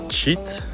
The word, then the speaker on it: cheat: J'ai confondu cheat, tricher, et shit, merde.